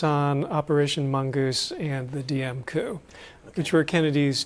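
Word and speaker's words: Diệm: Last name is spelled D-I-E-M. It is pronounced Diem.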